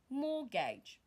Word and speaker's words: mortgage: Mortgage. Mortgage, mortgage, and not mortgage. The T there is not pronounced.